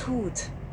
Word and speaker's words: Hut: Hut. That's hoot. Hoot. That's hoot. Spelled hut. Pronounced hoot.